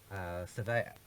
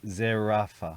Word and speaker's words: Zerafa: town of Bendigo between Jeff Horn and Michael Surveyor. Is that how you say his name? You're the name pronunciation expert. Zerafa.